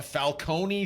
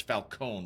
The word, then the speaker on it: Falcone: Do you think it is with the long E, or do you think it's Falcone with the long O instead? I mean, they both have long O, a Falcone E versus Falcone. So silent E or enunciated E, I guess, is the real question.